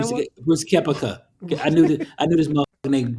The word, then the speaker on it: Brooks Koepka: Brooks Koepka.